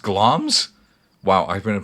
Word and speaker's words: Glamis: the time the monst GL pronounced glams wow I've been pronouncing